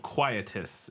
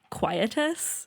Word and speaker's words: quietus: called Quietus, and it turns out we realize it's a